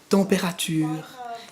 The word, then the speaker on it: température: prononciation avec les étudiants, qui est le mot temperature. Température, qui compte 5 syllabes en français, mais qui n'en a que 3 en anglais.